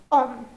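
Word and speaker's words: homme: So here om h is our h mute silent.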